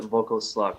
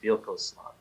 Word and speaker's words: Vlkoslak: I say let's with like VLKOSLAK because I feel, well, I call it VLKOSLAK, but I think the pronunciation is VLKOSLAK. It's a VLKOSLAK. Hungarian word.